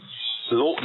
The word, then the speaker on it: Lauten: Actually, yes, it's the Lawton is spelled Lauten. It's a Lawton Audio, and it is it's just a beautiful microphone.